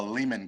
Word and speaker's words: Lehmann: So our winery, we use, it's called a Lehman glass. It's spelled Lehmann.